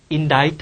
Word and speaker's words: indict: 자, 판사로 하여금 그가 테러에 대한 혐의로 인해서, 자, 인다이트 하는 거 말고는 선택의 여지가 없게끔 만들었다. 그러면 고발하다, 기소하다, 인다이트가 되는 거지. C가 묵음이 되는 거 일단 조심해주고, 두 번째 예문은 쉬우니까 빨리 들어가자.